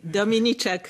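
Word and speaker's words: Dominiczak: Sorry, I hope I'm pronouncing you perfectly. Dominicek, thank you.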